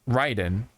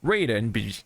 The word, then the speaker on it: Raiden: Metal Gear so um we know it's Ryden but we say Raiden just because that's how it went from the old days you know what I